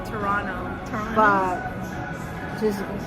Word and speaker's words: Toronto: Well, properly, it's Toronto. But how do for- yeah. For Locals? lazy, Toronto. Toronto. You drop. I Toronto. just say Toronto.